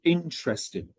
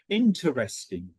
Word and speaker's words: interesting: the last one, okay, some people actually stress it on the first syllable. Interesting. Some people drop one of the syllables as well and say interesting. Because I'm from Northern England, I personally don't drop it. So where I come from, we actually say interesting. Okay, I actually say the second syllable where a lot of people don't. So this is where it